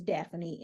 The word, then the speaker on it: Dafani: now daany spell your first name because it is spelled a little different it spelled d a f a n i is daffany and my last name is n o